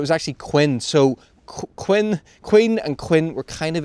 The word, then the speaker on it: Quinn: were the Quinns and it was spelled q i n n the way you would expect but they pronounced it Quin because there's some records that where it's written down as Queen so obviously they've said